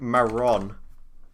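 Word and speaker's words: marrón: in the chat but you need to like roll your your rs like i don't know how to do it that's the problem i cannot do it for the life of me let me go google translate so it's like it's meant to be like maron it's like i can't do that it right rolls the tongue i i've tried doing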